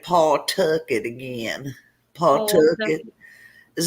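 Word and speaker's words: Pawtucket: her oh uh dylan wants me to say paul took it again paul took it is that what i ain't wanna tiffany say paul tucker paul tuckett narragansett new ham new port what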